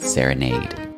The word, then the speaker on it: Serenade: years and why we should really all be pronouncing it Serenade foreign thank you so much for joining us